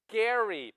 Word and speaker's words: Gerry: So Jerrymander is named after him who doesn't even agree with it and they got his name wrong, right? His name is Elbridge Gary, but we say gerrymandering.